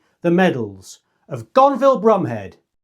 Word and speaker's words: Bromhead: Before we move on, it's important to understand that Gonville's surname Brumhead was actually pronounced Brumhead.